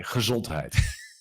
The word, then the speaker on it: gezondheid: Oh boy, gezondheid.